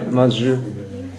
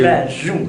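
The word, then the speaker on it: Masu: Oui, ou Mazou. M-A-S-U. Mazou.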